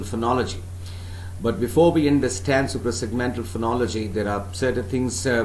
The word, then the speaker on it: suprasegmental: phoning all right now suprasegmentals super segmental please do not pronounce this word as supra it is not supra it's super segmental supra segmental is it clear now remember